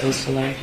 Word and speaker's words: Beausoleil: Could you tell me the pronunciation of Madison Baldwin's mother's name, Nicole Beausoleil? Yes. Beausoleil.